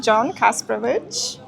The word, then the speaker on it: Kasprowicz: I'm here now with the wonderful host, John Kasprowicz. Is that the right pronunciation? Yes, in Polish, that would be correct.